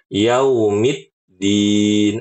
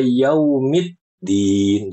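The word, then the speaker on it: يوم الدين: Jadi, ibu-ibu kalau baca yaumiddin, ibu-ibu itu masukin huruf ta walaupun cuma setengah harakat. Dan kata Syekh Mahmud Alhushari ya, di antara kesalahan fatal adalah memasukkan huruf sesu huruf baru di dalam satu kalimat.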